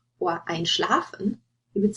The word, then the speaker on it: einschlafen: For the two examples here, you have anrufen and einschlafen. Anrufen to call, einschlafen to fall asleep. And you see the stress is on the prefix. You wouldn't say anrufen or einschlafen.